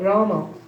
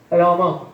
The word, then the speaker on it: Rama: So simple, 2 syllables, Rama. 2 syllables only, Rama.